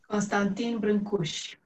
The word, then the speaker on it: Constantin Brancusi: Constantin Brancusi.